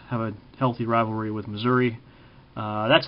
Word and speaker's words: Missouri: a healthy rivalry with Missouri uh that's how they say it in that state is Missour you don't say Missouri if you're from Missouri you say Missoura kind of like if